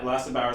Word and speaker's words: Lasse Bauer: And we have a special interview with Lasse Bauer. I pronounced that right? Yeah, Lasse Bauer.